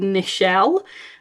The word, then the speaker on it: Nichelle: I know someone who's called Nichelle, which is Michelle with an N at the front. I don't know why her mother decided not to have an M, but to have an N.